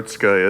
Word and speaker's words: Otsuka: So the correct pronunciation for Otska is, think of oatmeal, Otska, so Otska. So there you go. But if you say Atsuka or Osuka or whatever you say, it's fine.